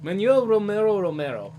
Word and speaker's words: Manuel Romero: It's like Spanish pronunciation. All right, Manuel Romero.